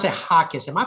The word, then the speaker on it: Jacquez: we go into it uh Stephanie uh I pronounce it Hawkins am I pronouncing it correctly you are you